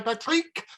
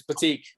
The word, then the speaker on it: Pratik: joined yet again by patrick how are you doing oh well andrew you've got my name wrong again it's batik oh no bad practice